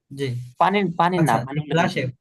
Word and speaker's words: Koffer: der Kaffee, কফে না, কফার। Biscuit, কফার, কফার, এই যে এ আর থাকলে উচ্চারণটা হবে আয়ের মতো, আয়ের মতো, এই যে স্বরে আ।